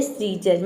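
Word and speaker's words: scissors: उसी तरह से है सीजर, सीजर का मतलब होता है सीजर, इसको हम प्रोनाउंस करते हैं सीजर, मतलब कैंची।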